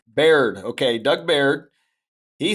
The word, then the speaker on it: Baird: Doug Bard, is that right? Baird. Baird.